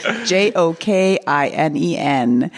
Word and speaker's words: Jokinen: Maybe it would be a good idea to look up the pronunciation on this last-minute switcheroo. Jokinen.